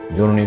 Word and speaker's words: জননী: জননী শব্দে দন্ত নয়ের সাথে একটি অ আছে, ও এর পর দীর্ঘিকার আছে, এই জন্য অটা এখানে ও এর মতো উচ্চারণ হয়েছে।